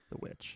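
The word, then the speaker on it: The VVitch: It's spelled Witch with 2 V's instead of a W, but that's misleading. It's just Witch.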